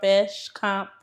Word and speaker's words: Fashcomp: Don't forget check out Fast Comp.